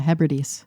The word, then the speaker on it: Hebrides: They were filmed in the Sound of Barra, that's Barra, which is a shallow channel on the outer, Hebrides. Am I pronouncing that correct? Yeah, Hebrides.